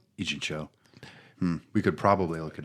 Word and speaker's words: Ijincho: No, but from my understanding of it, it's more Yakuza, it's more Kamurocho and Ijinko, and is Ijinko? I forget. Where Like a Dragon takes place. Ijincho. Ijincho, but it's Ijincho.